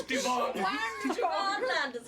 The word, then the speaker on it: Stivaan: And it's got a silent S on the front of it. It's Stivaan. He's the new captain of Bravo team.